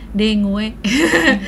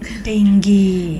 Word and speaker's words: dengue: mau membenarkan cara pembacaran dengue dengue itu bacanya tuh yang bener apa Dok denggi denggi Jadi bukan dengu apa dengue atau dengge salah ada beberapa negara yang